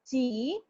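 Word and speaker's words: ち: It is not pronounced as T. It is pronounced as chi. Okay, it's chi.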